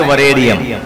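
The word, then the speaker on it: वरेण्यम्: ओम भूर्भुवः स्वः तत् सवितुर वरेण्यम लिखा है, वरेण्यम, और आप पढ़ेंगे वरेण्यम, ए को ई में बदल लेंगे, तब आपको गायत्री मंत्र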